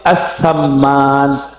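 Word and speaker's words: as-Sammān: Cara bacanya ratib assamman. Assamman ya.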